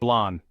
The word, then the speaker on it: blanc: color is white or Blanc in French we pronounce it blonde chapter 7 our next color is a blend